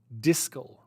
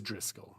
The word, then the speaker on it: Driscoll: bobby driscoll am i i feel like i'm pronouncing his name wrong disco what it is driscoll yes okay i was worried that there was no r and i was supposed to say bobby disco but it's like that's